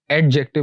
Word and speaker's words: adjective: इस वर्ड को नॉर्मली लोग एडजेक्टिव बोलते हैं, यानी डाल की आवाज़ भी निकाल देते हैं। तो इसमें डाल की आवाज़ नहीं है, डी साइलेंट है। तो इसकी जो करेक्ट प्रोनाउंसिएशन है that is एडजेक्टिव। Just gym की आवाज़ आएगी, डाल यानी डी की आवाज़ नहीं आएगी। सो इट्स एडजेक्टिव।